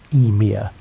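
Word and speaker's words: Ymir: The first being to emerge from the ice was Emir pronounced Eir and he was a giant.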